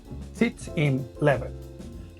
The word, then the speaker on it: Sitz im Leben: Se pronuncia más o menos como Sitz im Leben, que literalmente significa la situación de vida.